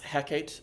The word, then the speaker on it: Hecate: McBTH where the goddess Hecate shows up. I'm aware that that's not how it's pronounced. It's how it's pronounced in Shakespeare because of the way it scans.